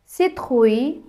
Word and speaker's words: citrouille: grenouille, citrouille, ratatouille இப்படி நாங்கள் அந்த உய் என்று சேர்த்து உச்சரிப்போம்.